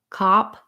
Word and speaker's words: cop: those three words together so pair them with another word to help you for example you could say a cup or some cups that cap so you have that a um or black cap black cap getting that bowel to match and then not a cop or father's a cop just to be able to match that vowel because as soon as